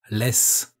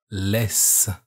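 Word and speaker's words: laisse: leave which in french is less this word pronounced more slowly sounds like less again the word is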